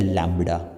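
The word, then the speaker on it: lambda: देखा ना हो इस सिंबल को बोलते हैं लैडा एल ए एम बी डी ए ध्यान रखना स्पेलिंग ये काफी ज्यादा यूज़ होता है मैथमेटिक्स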